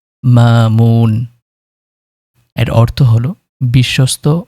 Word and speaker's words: মামুন: আজকের নামটি হলো মামুন এবং এর আরবি শুদ্ধ উচ্চারণ হলো মামুন।